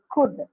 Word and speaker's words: could: Models are can, could. The L is silent here. L anno uchara iralla. Could, will, would. L again there is no sound.